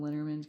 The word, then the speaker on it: Lenormand: I call them Lenormand cards because I think they originated in Germany, and so I just do the German pronunciation because it's easier than French.